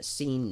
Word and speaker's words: seine: Um Now, I want to talk real quick about uh seine nets. That's uh it's spelled s e i n e.